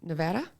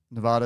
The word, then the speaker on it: Nevada: Nevada is a Nevada, however you want to say it, is a derivative of Spanish language. And the a is pronounced ah in that.